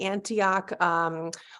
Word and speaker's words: Antioch: are a core faculty member um do I pronounce it Antioch it's the Antioch low residency MFA program so you do teach